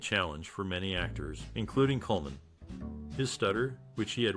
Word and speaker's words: Colman: It is important to note that Colman's surname is pronounced Colman, not Coleman, and his name is often misspelled as the latter.